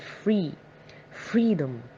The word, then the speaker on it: freedom: we stress the part free freedom free freedom why because freedom is a noun and always we stress the first syllable of a noun syllable is a part